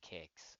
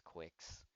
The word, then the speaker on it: Qix: It's actually pronounced kicks. I used to think it was quicks because it has a Q, but it's pronounced like a soccer kick.